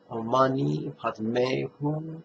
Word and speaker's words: Om Mani Padme Hum: An accent on the first I in the syllable Ni, and an accent on the letter E in the syllable May. Om Mani Padme Hum.